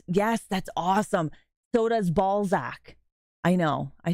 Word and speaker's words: Balzac: a place called Balzac it's spelled exactly like you think it is b a l z a c z a c ball Zack ball Zack yeah Sebastian you can